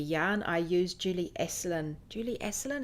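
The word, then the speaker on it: Julie Asselin: I use Julie aselin Julie esselen is how you say her name Julie eln from Canada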